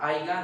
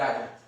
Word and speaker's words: haya: Aiga no, no se debe decir porque es como si no existiera esa palabra. E en lo correcto es decir, haya y ande en vez de anduve.